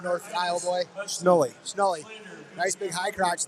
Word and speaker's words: Schnoor: How do you pronounce that name, North Iowa boy? Schnoor.